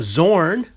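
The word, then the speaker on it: Xorn: card with the hologram zorn i'm assume that the x is pronounced like a z in english oh and then we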